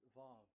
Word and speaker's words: Vav: So it's V as in Vogue. So it's really V. How to read Vogue? So the word, the shape Vav is really pronounced V, like Vogue. That is it, pronunciation. So here in this side, it's pronunciation. This is pronunciation. So according to the old Hebrew word today, those who the owner of the words, I mean, so it's a V. So don't change it into W, and you will say